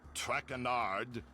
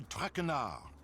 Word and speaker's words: Trakar: As for my name, not Trackard. It is Trakar.